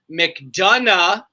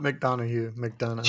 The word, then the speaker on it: McDonough: I liked it because JD McDonough yeah not McDonald's JD McDonough has had